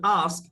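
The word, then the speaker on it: asked: Next আমাদের আস্ক এর past ফম হচ্ছে এস কে এর সাথে ইডি যুক্ত হবে। তাহলে উচ্চারণটা হবে আস।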